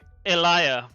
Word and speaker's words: Elijah: Elia. Okay, that makes sense. They use the Norse pronunciation of the J.